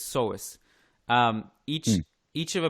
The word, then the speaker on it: psoas: soar to so ass i'm gonna go with so ass or so i think it's psoas um each each of